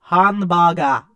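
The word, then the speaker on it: ハンバーガー: But the nice thing about learning Japanese is this: hamburger is hanbaga, Hmm. and bus is basu. So like that, what you would think is like a racist impersonation of it is actually Japanese.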